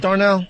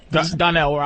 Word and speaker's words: Donnell: Is it Darnell? Donnell.